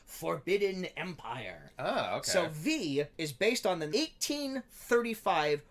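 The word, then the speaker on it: Viy: sequel to the 2014 russian fantasy horror blockbuster v which is spelled v-i-y uh in russia the film is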